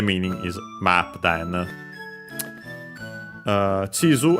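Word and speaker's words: 地図: Then uh chisu accent on the first syllable.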